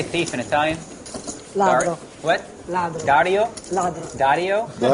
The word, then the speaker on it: ladro: Ladro. What? Ladro. Dario? Ladro. Dario? Dario, How do you say it? Ladro. Ladro, just like Dario.